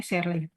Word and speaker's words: Searle: Searle, ini bacanya Searle.